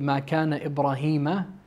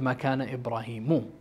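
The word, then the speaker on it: ما كان إبراهيم: I also said Ma Kana Ibrahima instead of Ma Kana Ibrahimu.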